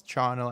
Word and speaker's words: charnel: some things for one the pronunciation of this word um which most definitely is charnel as we've discovered um